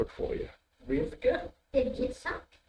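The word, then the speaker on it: יצחק: Did Yitzhak? Yitzchak, yeah.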